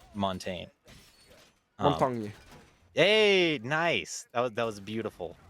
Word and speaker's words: Montaigne: real life French person told me how to pronounce Montaigne. Montaigne.